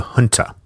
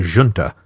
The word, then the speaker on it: junta: And in short order, the institution that would define the early leadership of that Spanish resistance began forming: the junta, or the junta, depending on your preferred pronunciation.